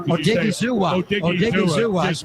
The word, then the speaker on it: Odighizuwa: Odighizuwa.